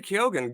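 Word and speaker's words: Keoghan: I chose Barry Kogan or Kyogan. How do you say his name? Uh Barry Kyogan.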